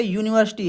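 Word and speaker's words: university: ठीक है, जैसे लिखा है यहाँ पे यूनिवर्सिटी, आप सोचोगे यू निकल रहा है, यू लिखा है यहाँ पे, तो बोलने पे क्या निकल रहा है, उच्चारण पे यू, या बन रहा है और मंत्र लग रहा है नीचे बड़ा ऊ की, यू, यूनिवर्सिटी, यूनिवर्सिटी।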